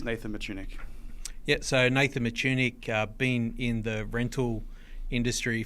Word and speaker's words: Mitschuinig: Sydney Australia and I am joined by Nathan matunik from select plant Australia welcome on the podcast